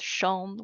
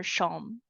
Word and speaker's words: Xiong: That is my last name, Xiong. It actually means bear in Chinese, and it's pronounced Xiong with a G or Xiong without the G. Either way is fine.